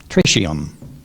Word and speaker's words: tritium: times the mass of ordinary light hydrogen atoms trium trium are there any alternate pronunciations there is uh trium Trum trium tridium t r i t i u